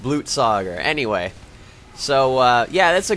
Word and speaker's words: Blutsauger: It's pronounced Blutsauger.